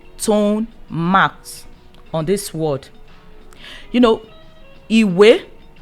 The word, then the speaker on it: Ìwé: Ìwé, we have 2 syllables. So that is why we have 2 tone marks.